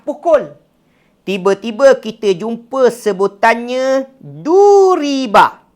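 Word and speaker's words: ضُرِبَ: Tiba-tiba kita jumpa sebutannya duriba. Ejaan yang sama, sebutan yang berbeza.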